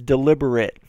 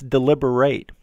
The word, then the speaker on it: deliberate: Now, this one is deliberate, and the pronunciation of at the end is it. But there's another word that's spelled the same way that's deliberate. And the end is pronounced like eight. Like eight.